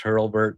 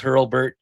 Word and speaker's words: Hurlbert: And hey, Hurlbert, and it's I'm pretty sure it's pronounced Hurlbert, by the way. There's an R in there.